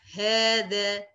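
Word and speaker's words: هذا: Ini tentang hadza. Hadza ya bacanya hadza ya. Hadza bacanya seperti itu.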